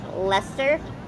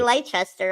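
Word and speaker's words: Leicester: No, I can't pronounce half of the cities like Lester, right? Is that how you say it? But I say Lchester, of course, cuz that's how you say it in my head.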